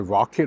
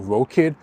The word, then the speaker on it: Rokid: By the way, if throughout this video you may have heard me call Rocket either Rocket or Rokit kind of interchange, it's because even inside the company they use the two pronunciations interchangeably, like Rocket, Rokit.